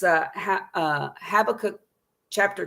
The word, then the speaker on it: Habakkuk: bible that we're going to go to i pronounce it have a cook some people say but it's clearly kkkuk at the end so have a cook that's how i say it and it's uh uh habakkuk chapter 2 verses 2 and 3.